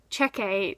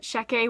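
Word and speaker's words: Checquy: was a rook in the Shecky and I pronounced it check a the entire time even though it told you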